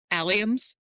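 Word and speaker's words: alliums: Aliums.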